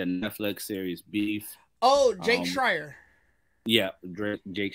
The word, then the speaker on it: Schreier: Oh, Jake Schreier. Yeah, Jake Schreier.